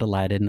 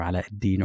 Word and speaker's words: Aladdin: of who I am my name is Aladdin or Aladin or alad Aladin however you want to pronounce it I make videos talking